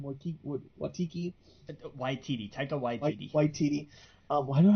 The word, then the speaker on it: Waititi: And it just, it's I think because of, how do you pronounce his last name? Waititi? Waititi, Taika Waititi.